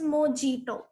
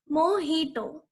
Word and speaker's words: mojito: Now here J is silent. So it is not pronounced as mojito. It is pronounced as mojito.